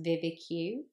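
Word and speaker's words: VVIQ: one I used is it's pronounced Vivica but it's basically the letters v v i q and you can go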